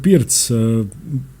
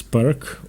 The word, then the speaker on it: Pirc: The Pirc, often mispronounced as "perk", or, in Croatian, "Pirčevka", was named after Vasja Pirc, a Slovenian Grandmaster, Yugoslavian Grandmaster.